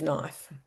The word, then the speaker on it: knife: For example, the silent k in knife was once pronounced. And we included this in one of our lessons and the children thought it was hilarious to um say knif instead of knife.